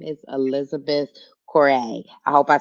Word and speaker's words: Correia: Yes, so it is Correia. Correia.